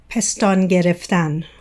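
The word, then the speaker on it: پستان گرفتن: Oh, can you say it in Farsi? Pestan gereftan. Oh, that just sounds beautiful. It sounds like someone's name. Let's see. Pestan gerefan. Am I saying it right?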